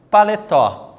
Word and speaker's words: paletó: Paletó. Olha lá, o que aconteceu com a palavra paletó? Foi dividido em 3 sílabas, certo? Chamamos de oxítona por conta do acento estar na última sílaba, né?